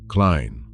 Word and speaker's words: Klein: In German, that e is a long i. Klein already sounded like Klein.